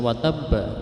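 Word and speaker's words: وَتَبَّ: Kemudian dalam akhir surah akhir ayat 1 surah Al-Lahab, watabba, tulisannya watabba itu qalqalah kubro, yaitu memantulkan. Bacaan yang dibaca dipantulkan, tapi ini kubro karena ada harokat tasydid.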